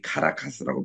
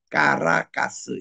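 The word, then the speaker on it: Caracas: 이것도 우리 카라카스라고 표현합니다만은 이 사람들이 직접 읽을 때는 까라카스 이렇게 발음을 해요.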